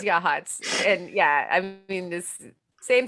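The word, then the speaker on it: Yachats: a lot and then we have yachts out here which is yahats and yeah i mean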